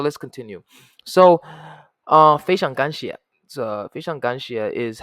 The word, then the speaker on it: 非常感谢: So, 非常感谢 is how you say it.